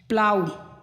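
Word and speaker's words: plough: अब जी एच की बात आती है, जी एच शब्द के अंत में जी एच या जी एच टी आया हो तो जी एच प्रायः साइलेंट होता है।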